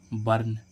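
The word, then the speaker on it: burn: तीसरा रूल क्या कह रहा है, जब भी किसी वर्ड में यू के बाद आर आए, यू के बाद क्या है आर आए तो इस यू का उच्चारण आ होता है। क्या होता है आ। जैसे हम देखें बी यू आर एन बर्न। बर्न means क्या होता है जलना। अब देखो इस यू में यू के बाद क्या आ रहा है आर, तो इसका उच्चारण क्या होगा आ, ध्वनि क्या निकलेगी आ।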